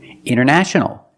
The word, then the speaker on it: international: International. International or international.